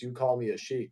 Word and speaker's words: youcallmeaashik: a rush, and also my username is a long username. It's you call me a sheik, like I don't expect